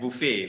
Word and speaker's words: buffet: Now, British English and American English, both actually, they don't actually pronounce it as buffet. They slightly change the original pronunciation in French. They change it to jadi buffet. Okay, it's buffet.